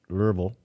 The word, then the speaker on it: Louisville: in louisville kentucky and my friends tell me that's pronounced lervil kentucky for not to exceed